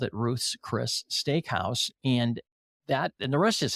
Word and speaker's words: Ruth's Chris: Everybody wants to call it Ruth Chris's Steakhouse. No, it's Ruth's Chris Steakhouse.